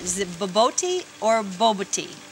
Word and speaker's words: bobotie: Now, how do you pronounce? Is it boboti or boboti? Bobotie.